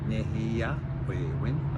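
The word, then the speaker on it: nēhiyawēwin: And in the Cree language, the last 3, Nehiya, Wewin, the last 3 syllables is where the emphasis is.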